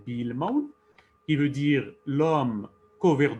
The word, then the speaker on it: Bu-Ilmawen: Donc, il s'agit de Builmaun, prononcé Bilmaun, qui veut dire l'homme